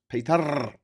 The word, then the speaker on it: Péter: Hey, Péter, and then the E as in bed, the R is slightly rolled. Péter.